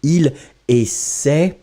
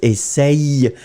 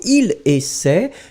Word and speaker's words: essaie: Normally, you don't pronounce essaye. It's not really nice. I mean, you can hear it. It's just like payer, il paye. But normally, it should be pronounced il paie. So, il essaie in the present form.